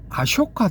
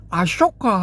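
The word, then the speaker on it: अशोक: 요런 케이스를 어디서 볼 수 있느냐 하면은 아쇼카 대왕 여기서 볼 수가 있는데이 아쇼카라는 그 표기를 원어대로 할 것 같으면은 대반화거리를 보면은 쇼가 맞거든요. 쇼 소가 아니고 쇼 쇼 할 때 그 앞부분 그이 자음 부분 요런 발음이거든요.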